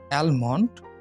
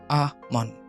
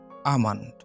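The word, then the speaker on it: almond: ১১ নম্বর এটার আমরা উচ্চারণ করি অ্যালমন্ড। এটার সঠিক উচ্চারণ হবে আমন্ড, আমন্ড, আমন্ড, আমন্ড। এখানে এলটা সাইলেন্ট থাকবে, আমন্ড।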